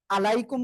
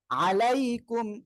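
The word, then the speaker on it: عليكم: মিম পেশ কুম আলাই আলাইকুম বললে ভুল আলাইকুম আইনটা গলাটা চেপে পড়তে হবে আলাইকুম আসসালামু আলাইকুম আসসালামু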